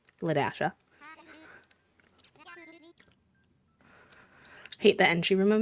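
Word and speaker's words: La-a: But her name was not spelled like L A D A S H A. It was spelled L A literal dash A, but it was pronounced Lasha.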